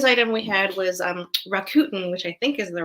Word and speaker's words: Rakuten: the second news item we had was a Rakuten which i think is the right way to pronounce that who sponsors the kobo ereader revealed